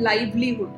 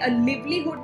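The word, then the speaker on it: livelihood: इसको हम कहते हैं लाइवलीहुड। Okay ma'am. लाइवलीहुड। लाइवलीहुड। Right? सो इसको आपने लिव्लीहुड नहीं कहना। That's called लाइवलीहुड।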